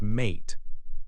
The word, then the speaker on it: mate: Take the word mat. The vowel a here makes a short sound. If we add an E to the end, it becomes mate. The E is silent, but it makes the a say its name, I. The short a sound changed to a long a sound because of the magic E.